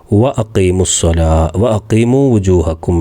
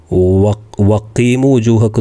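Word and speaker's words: وَأَقِيمُوا وُجُوهَكُمْ: വ അഖീമു വുജൂഹക്കും എന്നാണ്. വഖീമു വുജൂഹക്കും എന്ന് പറയില്ല, ഈ ഹംസ് പറയണം. കൂട്ടി ഓതുമ്പോഴും പറയണം.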